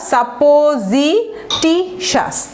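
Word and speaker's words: supposititious: সাপোজিটাস, sorry এটা সুপারস্টিশাস না, এটা সাপোজিটিশাস। একটু ভেঙে ভেঙে করবেন, সিলেবাল হচ্ছে একটা, জি হচ্ছে আরেকটা, টি হচ্ছে আরেকটা, চারটা সিলেবাল। ভেঙে ভেঙে যদি করেন আপনারা উচ্চারণ করতে পারবেন।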